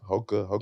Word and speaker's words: Hoka: How do you pronounce that? Hoka? Hoka.